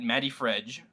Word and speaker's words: MattyFreg: Matt is at Matty Fredge. Which is spelled MATTYFREG, not And DGE. It's a soft G.